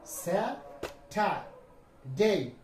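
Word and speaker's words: Saturday: এই কোন শব্দের শেষে যদি এ ওয়াই দিয়ে শেষ হয় তার উচ্চারণ কি হয়? এই আর দেখো স্যা ঠা দেই এখানে আর আছে দেখ আর কিন্তু উচ্চারণ হয় নাই।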